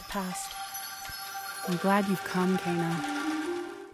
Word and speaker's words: Kena: i'm glad you've come kana kana i've been pronouncing it kenner there aren't many characters